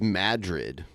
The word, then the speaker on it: Madrid: that's where wild the Hogs is fil it's pronounced Madrid yeah I know but whatever yeah yeah yeah